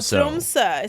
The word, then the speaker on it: Tromsø: Tromsø is how I say it in Norwegian.